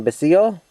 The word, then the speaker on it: Basile: catherine how do you say the last name basil okay very good so i look forward to